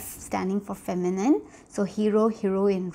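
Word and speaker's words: héros: sorry a hero basically in french is pronounced with the h so this is an example of a word let me highlight it to make things easier so this one is pronounced with the edge because it begins with h aspirated so it is pronounced as hero okay whereas the feminine version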